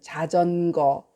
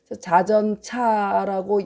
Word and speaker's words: 자전거: 작은 술에는 거자로 읽어요. 작은 술에는 자전거, 인력거, 녹거. 그러니까 사람의 힘으로 끄는 거. 그러니까 작은 것들이죠. 인력으로 끄는 거, 또 동물의 힘으로 끄는 거는 거라고 읽고요. 뭐 기계, 기차, 자동차 이런 것들은 차로 읽습니다. 자전차라고 옛날에 우리 아버님들은 자전차 이러는 분도 있었고 자전거라고도 하기도 했거든요. 근데 사실은 사람의 힘으로 발로 굴러서 가서 거로 읽습니다.